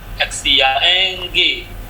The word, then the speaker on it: 像: 我们看一下， ini bacanya 像 titik-titik 一样。 Oke, titik merah itu ya, 像 XIANG, 像 ada 4, 一样.